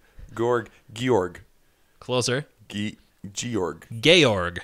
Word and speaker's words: Georg: hard G sound gorg George tried something else George gorg gorg closer key to York Georg Georg Georg